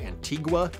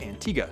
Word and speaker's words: Antigua: thought it was pronounced Antigua which is of course how you might read it but listening to the interviews online it actually is pronounced Antigua so I've learned something